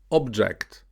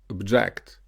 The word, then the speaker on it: object: The noun here is pronounced object, and the verb form is pronounced object.